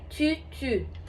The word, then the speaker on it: tutu: Na verdade, a pronúncia correta é tutu, que é exatamente entre o U e o I. Então não tem correto. Se alguém falar tutu, e alguém falar titi, aí você vai falar, ai, tá errado.